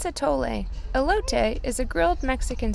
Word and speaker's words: atole: which I think was called elote actually it's atole elote is a grilled Mexican street corn maze drink actually it's pronounced mais not Maze and it also adds